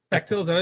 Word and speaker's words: Bechdel: Bechtel, is that how it's pronounced? Okay. Yeah, that's it. I don't know if I would go for John for pronunciations, but I think he's correct this time.